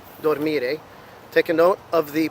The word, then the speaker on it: dormire: The infinitive form sounds like dormire. Again, this time it's falling on the second syllable again.